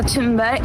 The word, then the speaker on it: Thunberg: Israel seizes Gaza-bound activist boat and detains Greta Thunberg. And here is Greta Thunberg being captured while delivering food to Gaza. Let's have a look. My name is Greta Thunberg and I am from Sweden.